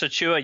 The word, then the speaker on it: Achiuwa: Let's start with, I hope I'm pronouncing the last name correctly, Precious Achiuwa? Is that? Precious Achiuwa, you got it. At least you didn't have to pronounce his brother's name, which would be easier.